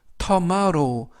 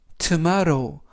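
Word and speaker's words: tomorrow: 뜻은 어제 라는 뜻이고요 튀는 트 오는 좀전에 트 데 이처럼 이번 단어 해서 알파벳 오는 음 가는 억 이지만 발음이 약해져서 거의 발음을 하지 않습니다 때문 뭐 오는 아 알 알은 2개가 엘르 5w 는 이중모음 으로서 5 그래서 터 마로 보다는 7 마 루 트 마루 라고 발음합니다 뜻은 내일 이라는 뜻이고요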